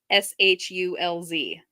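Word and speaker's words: Schulz: spelled, and it looks really weird if you spell it out. So Schultz, Schultz, is now Shulz.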